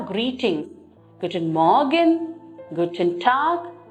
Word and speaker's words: Guten Tag: You can see the letter G at the end, but we do not take the G pronunciation, rather we take the K pronunciation.